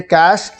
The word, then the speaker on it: cache: तो सबसे पहली जो हमारी कमांड है वो होती है कैश। अब देखिए, बेसिकली इसे आप कैश भी बोल सकते हैं, कैशे भी बोल सकते हैं, दोनों ही प्रोनाउंसिएशन बिल्कुल ठीक हैं।